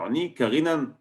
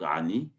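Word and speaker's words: עני: C'est pour ça que normalement c'est marqué sans vav, c'est marqué Ain Nun Yud, donc Ani, mais on le prononce comme si il y avait un vav, Oni.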